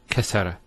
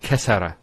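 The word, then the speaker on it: كَسَّرَ: And you can actually feel it the way it's pronounced. Kassara instead of kassara. So once again, there's the kaf, followed by 2 scenes, and then the ra. So kas, skune, sara. Kassara, not kasara.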